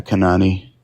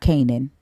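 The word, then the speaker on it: כנען: and then naan and that's how you pronounce it Kanan and not Canan Kanan k um yeah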